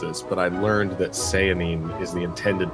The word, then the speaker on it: Sehanine: all the research for this I have been pronouncing Sayan wrong the entire time that I've been reading it I've been saying cine I've heard all these other things I learned